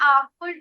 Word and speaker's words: awful: I had an awful dream last night. Okay, very good. The answer is right, but you have to pay attention to the pronunciation. It's awful. Awful. Aw.